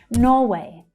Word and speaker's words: Norway: Norway. Norway. So for Norway, you'll hear the first syllable stressed. It's much louder and much stronger than the second one.